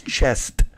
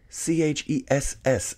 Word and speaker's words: chess: I'm like, bro, it's spelled C-H-E-S-S. It's chess. And he's like, no, it's chest because you keep it in a chest when you're not playing it.